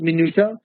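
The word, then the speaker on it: minutiae: minu this word is pronounced as minua minua what a Mina minua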